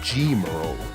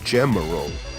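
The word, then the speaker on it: Gemerl: to draw more portraits you may notice how i'm pronouncing their names right emerald and g-mural this surprisingly is the correct way each is pronounced as the japanese names emeru and jimaru seem to line up though if you pronounce them like emerol or gemmarole i won't tell anybody as one is built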